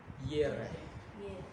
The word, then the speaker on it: Jireh: So, Yehovah Jireh. Yere. Yun ang kanyang ano. Jireh sa atin, pag binibigkas natin, Jehovah Jireh. J-I-R-E-H. G-I-R-A-H. Jehovah. Pag sa Hebrew, pag binibigkas nila to, Yehovah. Yere.